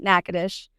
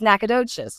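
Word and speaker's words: Natchitoches: And I know some people are like, "You're saying it wrong. It's not Nacadesh. It's Nacadocious." No, Nacades is in Louisiana.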